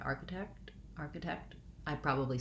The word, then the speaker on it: architect: in the last syllable so i want to think about arc uh i think i'll write it with a k just an ark just like the word arc arc uh architect um watch for making sure that you have the kt at the end text text architect uh